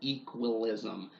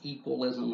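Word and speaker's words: Ekwilism: um who has instituted a social philosophy called equalism and it's spelled e k w i l i s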